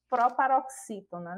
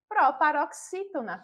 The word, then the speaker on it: proparoxítona: E quando percebemos e identificamos a sílaba tônica, novamente, pela própria presença do acento agudo, a gente já identifica que é a sílaba formada pelas letras X e I, não é?